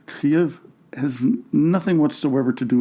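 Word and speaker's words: Kyiv: the capital of Ukraine the russified and anglicanized version of Kev has been put aside and has been replaced with the Ukrainian version of KV according to ukrainians I've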